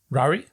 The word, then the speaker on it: Ruairi: I'm probably pronouncing his first name wrong. It's Ruairi. Rory? Yeah. Or maybe it's Rory.